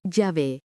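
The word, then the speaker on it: יהוה: Cuarto nombre, IHWH, pronuncia Yahvé.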